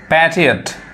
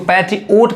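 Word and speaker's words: patriot: last word है पैट्रियोट many people miss pronounce this word पैट्रियोट इट्स नॉट पैट्रियोट इट्स पैट्रियोट यानी बहुत सारे लोग इसको भी गलत उच्चारण करते हैं इसको पैट्रियोट कहते हैं जबकि सही उच्चारण क्या है पेट्रियट इसको हिंदी में हम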